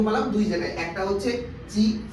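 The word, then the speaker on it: ち: তারপরে কি আছে আকাছা তা তারপরে এখানে কেন চি হলো কারণ জাপানিজরা টি উচ্চারণ হতে প্রবলেম হয় ঠিক আছে চি এটা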